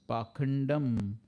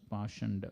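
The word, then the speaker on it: पाखण्ड: And the other word is Pakandam. Yaha adharme dharma vibramaha. So Prabhupada is focusing on the word Pakanda. It is sometimes pronounced as Pashanda.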